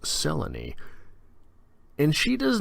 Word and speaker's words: Selene: there's a moon lady named Selene pronounced Sela knee and she does not